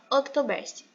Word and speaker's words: Oktoberfest: Eu não sei se pronuncia assim, mas creio que seja, que é Oktoberfest.